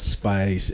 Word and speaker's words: Spyce: It's called Spice.